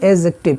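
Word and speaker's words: adjective: यहाँ पर एक चीज़ और देखिएगा, ए और जे के बीच में जब डी आता है तो डी साइलेंट हो जाता है। क्या हो जाता है? साइलेंट। तो यहाँ पर इसको हम एडजेक्टिव नहीं पढ़ते, इसको पढ़ते हैं एडजेक्टिव।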